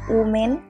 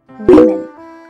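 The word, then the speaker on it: women: এই ওয়ার্ড টাকে অনেকেই উচ্চারণ করো ওম্যান কিন্তু এটা ওমেন নয় উচ্চারণ করবে উইমেন উইমেন ওকে উইমেন পেঁয়াজকে ইংরেজিতে কি বলা হয়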